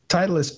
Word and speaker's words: Titleist: say any man Titleist Titleist Titleist thank you Titleist put those links inside of public Channel it's